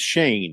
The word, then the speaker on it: Schoen: It's actually Joe Shane. It's Joe Shane. Okay. I didn't Can know I just actually. get that? And by the way, GM Joe Shane, you have a dumb name because it's spelled Schoen. You know, Shane. You get rid of all them unnecessary letters and just A-N-E.